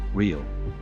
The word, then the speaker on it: riyal: The dollar of Qatar, the currency of Qatar is the Qatari riyal and the pronunciation is the same as the Brazilian currency, riyal.